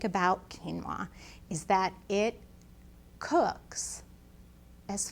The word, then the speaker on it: quinoa: grain and it's called quinoa it's that q word out there in the grocery store that you might not really know how to pronounce it's q-u-i-n-o-a quinoa and quinoa is a